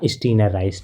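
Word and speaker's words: Steiner Rice: इसका right pronunciation क्या हो जाएगा, स्टीनर राइस, ठीक है ना। मैंने इसको गलती से स्टिंगर पढ़ दिया था तो ये हमारा क्या हो जाएगा, स्टीनर राइस है, ठीक है।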